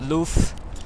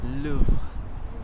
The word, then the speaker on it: Louvre: the courtyard of the Louvre. If you want to pronounce it correctly, it's not Louvre, it's not Louvre, it's Louvre, Louvre, with sound, because the R sound is like a H in French.